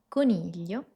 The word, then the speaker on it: coniglio: El primero es decirte que puedes imaginarte una L antes del sonido.